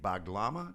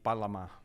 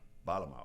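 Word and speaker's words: bağlama: plays a Turkish instrument called a blama. Did I get it right? Yeah. Actually, pronounced in Turkish it would be Balama. Balama.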